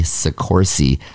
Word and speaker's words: Soccorsy: before we met sikorsi like horsey with two c's too by the way